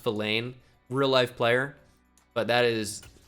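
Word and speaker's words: Vilain: I think it is pronounced Villain, real-life player, but it's an all-time name.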